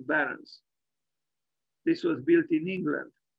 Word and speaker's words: Behrens: Northampton by Peter pet I guess we should pronounce his name he was German and not English pet Barons this was built in